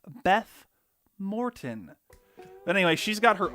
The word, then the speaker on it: Beth Morton: artist and fellow battle for bikini bottom enthusiast beef martin i'm being told it's actually pronounced beth morton but anyway she's got her own opinions so